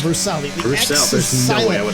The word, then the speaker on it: Bruxelles: I don't know how to pronounce that turn name. Bruxelles. Bruxelles.